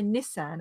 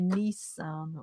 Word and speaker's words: Nissan: We say Nissan, and I think Americans say Nissan or something like that.